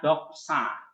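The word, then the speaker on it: δόξα: pronunciation ini pengucapannya ini loh Nah ini ini pengucapannya jadi b o k s a doksa Nah kalau transliterasi yang ininya nih transliterasi berarti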